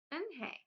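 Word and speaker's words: Unhei: it spelled U and H E I it's pronounced and hey oh it's you hey the boy said like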